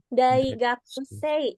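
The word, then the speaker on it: 大学生: Oh ya, sedikit ini untuk pengucapan di Daigakusei itu punya agak ngilang ya, agak mendelep sedikit. Daigakusei. Jadi kayak kalau misalnya bingung nggak usah disebutin aja, jadi kayak Daigakusei. Kedengarannya kayak gitu, karena ini Daigakusei-nya nggak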